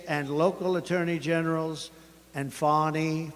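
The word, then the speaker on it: Fani: local attorney generals and fonnie fonnie you know fonnie spelled f a ni I my name is fonny f a n i i don't figure it you put a little French accent on the word with a lover Wade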